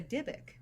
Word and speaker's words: Dybbuk: like there it's like you can pronounce Dibbuk with a Y or Dibbuk with an I, but for me in my voice right now it'll sound the same either way.